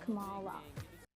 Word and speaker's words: Kamala: need to tell you for years my name's pronounced kamala i had a girl and screech goes the